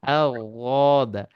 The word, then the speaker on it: ضاد: হ্যাঁ, এই জন্য আমার মতে এটা জোয়াদো হবে না, দোয়াদো হবে না, ঠিক আছে। এটা মাঝখান থেকে মানে মাঝ একটা উচ্চারণ হবে। তো ও ওয়াদ, বুঝলেন, আও ওয়াদ, আও ওয়াদ।